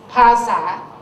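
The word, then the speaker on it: ภาษา: to shorten the syllables so Bahasa becomes Pasa by adding tones and all this okay try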